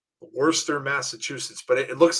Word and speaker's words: Worcester: Worcester, Massachusetts, but it looks like it almost looks like Worcestershire sauce. It's spelled way different than it sounds.